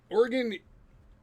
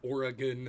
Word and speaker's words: Oregon: Yeah, Oregon, or Oregon, I should say it properly, was very similar too.